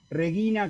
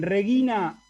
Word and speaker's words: regina: el acento un segundito en regina no hay ningún acento porque no hay acentos en latín y acá simplemente el diccionario me va a marcar que la i es larga que dura los tiempos según la regla que acabamos de ver si la penúltima vocal de la penúltima sílaba es larga el acento cae ahí así es el asunto en